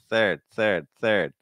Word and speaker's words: third: It's like third.